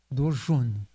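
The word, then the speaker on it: দর্শন: Dorshun. So the A becomes U.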